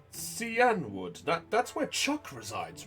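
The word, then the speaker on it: Cianwood: It's pronounced Cyanwood, for the record.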